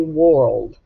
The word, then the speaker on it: world: you're hearing were okay so even though world has an r controlled sound it doesn't make the or sound we don't say world we say world it's i r e r u r sound put all three of